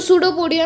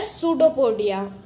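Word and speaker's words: pseudopodia: तो सूडोपोडिया में P silent होता है. सो ये वर्ड है सूडोपोडिया.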